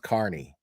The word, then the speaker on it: Kearney: It's spelled like it sounds like Kearney, but it's pronounced Carney.